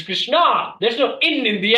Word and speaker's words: Krishna: change people actually like correct my pronunciation say why you keep saying Krishna it's it's Krishna there's no in in